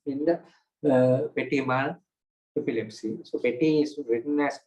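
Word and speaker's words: petit: So petty is written as p e t i t. This last t is silent.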